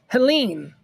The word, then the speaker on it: Helene: Is it Helene or Helena? Helene. I would pronounce that Helene. But watch them say, no, that's Helena. We're gonna call it Helena. It's Helena. It's Helena, right?